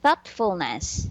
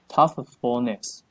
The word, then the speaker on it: thoughtfulness: Okay, thoughtfulness. Oh, toughfulness.